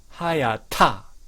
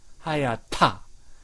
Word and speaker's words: 하얗다: 하얗다, 하얗다. 못해요, 못해요. 자, 이 발음은 이런 발음이 모국어에 없는 나라가 많습니다.